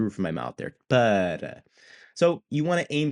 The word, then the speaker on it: para: So we're like budda, like in order to or for the preposition. An American English speaker may pronounce that as para, para. Okay, so we don't want to go with that. That's a curled R. We want the tap. We want this like light flappy R sound.